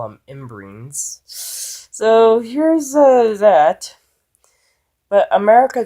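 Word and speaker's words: ymbryne: doesn't have in brains I finally figured out how it's pronounced that is if the pronunciation Tim Burton movie is using it is proper I'm just gonna go off of that on my own gut instinct for now because I've been calling it in brines this entire time and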